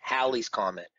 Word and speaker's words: Halley's Comet: is real anyways but the whole Halley's Comet is now always been Halley's Comet with a short a so it's a CH